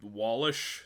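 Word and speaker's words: Wallach: W How do you pronounce that last name? Uh, Wallish.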